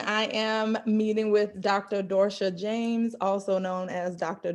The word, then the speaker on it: Dorsha: hello everyone i am meeting with dr dorsha james also known as dr dorsha did i pronounce your name correctly you did pronounce it